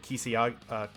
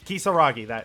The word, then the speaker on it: Kisaragi: this detail, because the alumni mode and the Kisiyagi... I forget how to pronounce it sometimes. It's okay. Kisaragi, there we go.